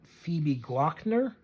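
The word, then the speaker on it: Phoebe Gloeckner: to say her name Phoebe glockner is how you say her name she is an artist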